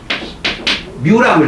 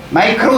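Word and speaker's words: μ: 이걸 뮤라고 읽어. 뮤 마이크로 이러지 마. 이건 단위고 뮤라고 읽거든.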